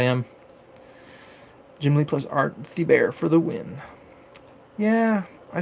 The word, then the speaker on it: Thibert: I thought it was Art Thibert. So that's how I pronounce it. And then Mike goes Art Thibert. So all right, that's how you pronounce it. It's Art Thibert.